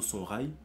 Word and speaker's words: Songhai: L'empire Songhai ou Songhai, en fonction des sources historiques, mais l'histoire africaine nous dit plutôt Songhai en termes de prononciation.